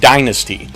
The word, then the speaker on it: Dynazty: going to talk about the power metal band Dynasty now Dynasty is spelled a little different than what you're used